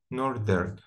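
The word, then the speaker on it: Northern: أوكي بعد كده نورثرن نورثرن، هي طبعا احنا نورث يعني شمال، ولكن لما بتبقى كصفة نورثرن بتتحول ال TH نطقها ذا مش ث.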